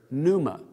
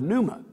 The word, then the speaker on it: pneuma: That's because the English word pneumatic comes from the Greek word for air, pneuma. In our letters, English letters, we would spell that P, which is silence, of course, P-N-E-U-M-A, pneuma.